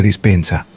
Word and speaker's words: Dispenza: doctor K estamos hablando con el doctor Joe dispensa estoy pronunciando correctamente tu nombre lo estás está bien